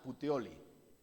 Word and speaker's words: Puteoli: el al segundo día putioli sí se debe pronunciar así Eso es como italiano no si si hay